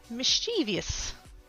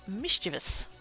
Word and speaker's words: mischievous: and think about it mischievous or mischievous now I've always said it mischievous um but when he